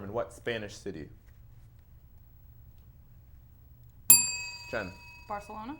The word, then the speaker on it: Barcelona: what Spanish City Jen Barcelona correct balona they like to pronounce it with the th don't they Barcelona any Spanish nerds no